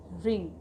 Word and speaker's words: wring: WRING, रिंग, इसमें हमारा W silent होगा क्योंकि W के बाद हमारा R लेटर है, तो इसको हम पढ़ेंगे रिंग।